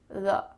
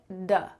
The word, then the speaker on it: the: It kind of sounds like a short U, th-uh, th-uh, th-uh.